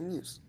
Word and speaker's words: Muse: Yeah, Muse. Muse. It's not Moose.